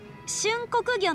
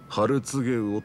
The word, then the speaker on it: 春告魚: なすみません春告魚の煮物をくださいお客さんそれはね春告げをって読むんですよえそうなん